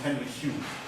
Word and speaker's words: Henry Home: So Henry Home is pronounced Henry Hume.